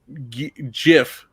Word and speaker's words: GIF: came down himself and said it was pronounced you know jiff yeah he's like i'd